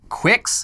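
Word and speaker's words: Qux: It's spelled Q-U-X. Cox. And the promotional materials on its website pronounce it like Quix.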